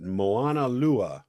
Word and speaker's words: Moana: Now, I saw in your bio, Kila, that you played at Moana.